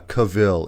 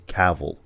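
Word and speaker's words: Cavill: It's like, oh, it's not uh Cavil, it's Cavl, right?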